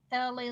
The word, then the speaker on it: Elay: This is LA, pronounced like LA, like the city.